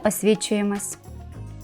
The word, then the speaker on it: освідчуємось: стосується романтики то ми освідчуємось запам'ятайте це слово і вимовляйте його саме з літерою D тому що схожа на